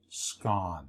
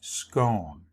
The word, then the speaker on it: scone: The proper pronunciation rhymes with the word gone. So you would say scone. The other way, which is accepted, rhymes with tone. So you would say scone.